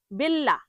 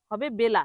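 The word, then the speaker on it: bella: করে তখন এরকম বলে বেল্লা। কি বলে? বেল্লা। ওই যে বিই ডাবল এল এটা কিন্তু ডাবল এল এর জন্য ল হবে না। মানে ল জোর হবে না। বেল্লা হবে না। হবে বেলা।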